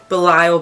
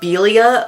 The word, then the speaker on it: Belial: Uh it's pronounced Bilia or Belio um or Bile or Bar. There's a few ways.